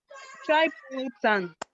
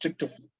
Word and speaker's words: tryptophan: Triplotan. What? Triplotan. Triplotan. Lysine. right? We have Factor. histidine. We have histidine and arginine. Okay, you have tryptophan. That thing is called Yes, sir. Yes, sir. pronounced tryptophan.